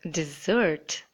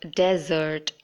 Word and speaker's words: dessert: You can see that I pronounced it as dessert. D. Dessert. Just like how you would say divine. The beginning. Just notice the beginning. It should be dessert and not desert. Desert is D-E-S-E-R-T, and it is completely different from dessert.